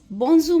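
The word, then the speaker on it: bonjour: बोंजू moisture बोंजू इट्स नॉट बोंजुर आर is silent here बोंजू are will sounds like it will sound like ह the sound will come from your throat बोंजू बोंजू moss बोंजू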